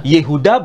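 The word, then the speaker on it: יהודה: Ini kan sebetulnya Pak Edi nggak perlu bingung, karena cara pelafalan itu bisa bergeser. Yahuda, ismuhu Yahuda, fakadzabuh. Mereka kemudian mendustakannya Yahuda. Bukan Yehuda ya? Yehuda bahasa Arab, bahasa Ibraninya Yehuda.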